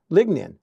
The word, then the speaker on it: lignin: in a substance called Legion ligin ligin lignin that's how you pronounce it and after the